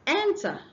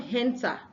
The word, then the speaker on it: enter: The next one is enter, not henter. Hence, if you say henter, you are pronouncing an H before the word.